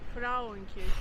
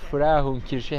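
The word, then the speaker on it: Frauenkirche: Hemen arkamda bulunan yer Fraun Kirşe. Frahun Kirşe. Hemen Rejid'den düzeltme geldi.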